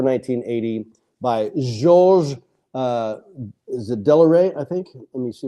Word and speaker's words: Delarue: original score for 1980, by Georges, is it Delarue, I think? Let me see if I can pronounce it correctly here. Hang on, I had it here a moment ago. Georges Delarue, there it is. Delarue.